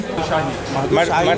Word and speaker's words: Madhushahi: Madhushahi Samosa Centre.